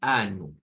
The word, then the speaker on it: ano: mesis du y anu bueno esa palabra verdad es la que nos suele dar problema en español porque comenzamos a compararla con otra cosa y y y y es sinónimo casi siempre de de risas o de cosas en las clases de portugués para los hispanohablantes o los que hablamos español pero la realidad es que no suena como en español suena a u nuevamente estamos viendo os